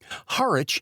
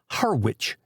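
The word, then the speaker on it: Harwich: Haritch in England. Harwitch here. Haritch is the way it is mouthed in the seapport town of Essex County, England.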